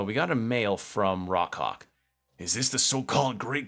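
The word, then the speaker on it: Rawk Hawk: So we got a mail from Rockhawk.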